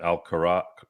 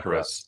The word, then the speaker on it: Alcaraz: I always mispronounce his name. Alcaraz. Sorry, Yeah, Alcaraz. Jeez. Almost like Alcatraz.